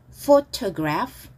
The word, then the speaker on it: photograph: Photograph, photograph, photograph. 자, F 발음이에요. Photograph는 PH는 F 발음이 납니다.